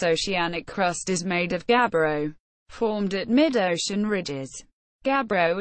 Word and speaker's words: gabbro: Gabbro. Pronunciation: ʻɡæbroʊ, refers to a large group of dark, often phaneritic, coarse-grained, mafic intrusive igneous rocks chemically equivalent to basalt.